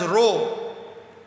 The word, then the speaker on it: rho: This proportionality constant, which is represented by a Greek alphabet pronounced as rho.